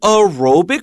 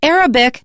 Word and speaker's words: aerobic: intense kind of routine don't say Arabic because that means a person who is in Arab is Arabic or the language is called Arabic Arabic aerobic make sure that you keep those apart all right so martial